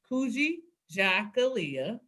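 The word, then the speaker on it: Kujichagulia: Or you can think like Kuji and then chocolate Leah, Kuji Jakalia.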